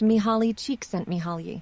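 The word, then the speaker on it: Csikszentmihalyi: came Flow by Freddy it's pronounced me holly cheek sent me holly thank you if you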